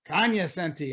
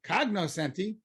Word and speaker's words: cognoscenti: That's always a big hit amongst the Kanyasenti. We'll see. The who? Kanyasenti, you know, the people in the know. Oh, you mean the cognoscenti? Rick, the Kanyasenti say Kanyasenti and not cognoscenti.